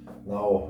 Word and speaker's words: 나: to it we get this one is pronounced like an n and you put an ah next to it and you get no no also not in korean